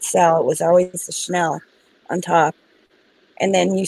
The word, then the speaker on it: Chanel: just saying Chanel number five is how it's pronounced to which is that was Andy Warhol this Chanel number five at the bottom I've seen L